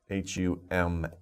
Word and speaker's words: hummus: good food for you so it's interesting hummus h-u-m-m-u-s hummus oh yeah that's a food okay so be careful with these words pronunciation and don't get it mixed up with